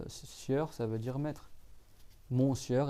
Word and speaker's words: monsieur: Mon sieur, et monsieur, on dit monsieur, mais on le prononce, en fait c'est mon sieur, ça veut dire mon seigneur, et madame, et ma seigneuresse, quoi.